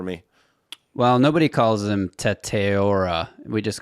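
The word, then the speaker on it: Tetairoa: They have him taken a wide receiver, and Justin's going to pronounce his first name for me. Well, nobody calls him Teteora.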